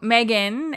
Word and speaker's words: M3GAN: that one maybe uh so Megan and if you see it in the show notes it's spelled M3 Gan um which is short